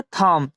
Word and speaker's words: thumb: थंब इसे नहीं पढ़ेंगे, इसे हम क्या पढ़ेंगे? थंब पढ़ेंगे, क्योंकि एम के बाद बी है इसलिए यहाँ बी साइलेंट रहता है। तो इसे हम क्या पढ़ेंगे? थंब, जिसका हिंदी मतलब होता है अंगूठा।